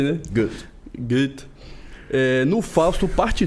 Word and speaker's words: Goethe: O maior autor alemão, o Goethe, é assim que pronuncia, né? A gente fala Goethe, né? Goethe.